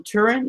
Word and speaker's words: Turing: I've got the Imitation Game about Alan Turing. Is that how you say his name? Yep. Yeah, Turing.